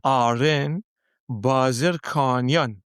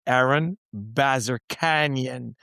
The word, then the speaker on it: Aren Bazerkanian: baby, we have and I'm going to do my Persian version. Yeah. Yeah. Arin Bazerkanyan.